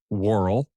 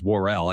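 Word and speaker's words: Worrell: ER well hold on Ernest pronounces it warl but uh Mr story who is an actual news anchor by the way not his birth name we'll get to that later um he says warell I think everybody else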